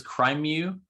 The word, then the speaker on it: crimew: Is your name pronounced as crimew? Because exactly, it's a portmanteau of crime and mew, as in the cat noise.